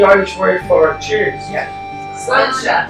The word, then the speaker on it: Sláinte: Sláinte. Sláinte, exactly. Or if you're having trouble pronouncing that, just say it's a lawn chair really fast.